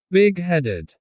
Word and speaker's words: big-headed: Native speakers often stress the word big. Big-headed.